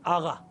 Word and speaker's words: آقا: جیسے آقا کو وہ لوگ کہتے ہیں آغا, یہ ہوتا ہے آقا لفظ قاف سے.